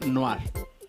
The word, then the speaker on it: Noire: Dice Samus que se pronuncia Noir.